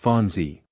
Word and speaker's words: Fonzie: Pronounced Fonzie.